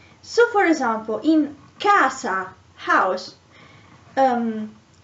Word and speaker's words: casa: so for example in casa house um this letter c is pronounced k because there is the a after it oh for example uh